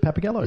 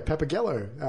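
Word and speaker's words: Pappagallo: think he's great Michael Preston plays is it pepper Gallo is that how you pronounce that sounds good papagallo yeah papagallo delicious on a pizza yeah the artistic leader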